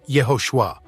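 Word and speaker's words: יהושע: the Israelite judge Joshua first century Christians who spoke Hebrew would have pronounced his name yahoshua while those who spoke Greek would have said Yus the fact that the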